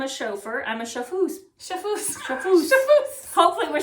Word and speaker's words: chauffeuse: Chauffeuse. Chauffeuse? A masseuse, a chauffeuse. Yeah, because it's E-U-S-E. Yeah. Okay. So if I am a chauffeur, I'm a chauffeuse. Chauffeuse.